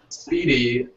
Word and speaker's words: SPDY: a beginner's level understanding of it but um speedy um which is spelled sp spdy i think um is uh